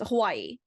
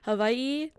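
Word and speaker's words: Hawaiʻi: It's more of a Hawaii with a V sound instead of the W.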